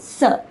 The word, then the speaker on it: sœur: Notice the pronunciation, it is sœur.